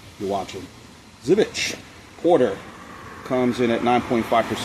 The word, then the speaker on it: Żywiec: Today we're looking at not Zoo. Zivich. Now I'm pronouncing it correctly. Hopefully I'm pronouncing it correctly. Mr. T, you're watching. Zevich Porter comes in at 9.5% ABV.